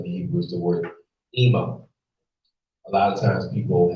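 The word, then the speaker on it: אמא: for mother in the Hebrew is the word ima. A lot of times people have are given the name Emma, that's how it's pronounced in Western cultural dialect, but the word Ema means mother. Okay, Ema.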